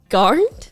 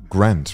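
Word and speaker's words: Garnt: Yeah, how do you pronounce it? Garned? Yes. She got it. First read it. We're on the way. You pretty thought it was like Grant, right?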